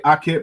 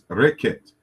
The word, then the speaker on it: Reket: Some people say Aket, but it's not Aket, it's Reket.